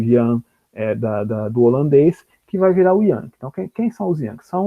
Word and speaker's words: Jan: se chamavam Jan, né, em português João, pronunciado Jan.